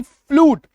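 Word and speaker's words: flute: की मात्रा ठीक है एफ एल यू टी फ्लूट बड़ी उकार की मात्रा ठीक है तो दो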